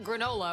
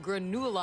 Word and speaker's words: Granula: It's not granola. It was called granula.